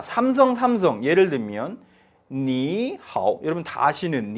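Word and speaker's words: 你好: 위해서 부드럽게 만들기 위해서 앞에 삼성 삼성 일 경우는 앞의 삼성을 이성으로 발음 해준다 란 하나의 규칙을 만든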